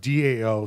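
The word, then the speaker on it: Tao: one that spelled ta o and but it's pronounced Dao so in the after the kindness revolution some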